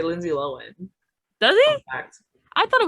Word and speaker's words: Lohan: pronouncing it wrong and she's never made a point to be like by the way guys it's low end you know to be